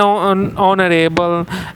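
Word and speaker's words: honourable: जैसे कि आप देख सकते हो एन ऑनरेबल, एन आवर। ठीक है, इस तरह से हम जो है इस्तेमाल करते हैं, जहाँ पे फर्स्ट लेटर क्या है आपका कांस्टेंट, जैसे एच यहाँ पे कांस्टेंट, साइलेंट कांस्टेंट है।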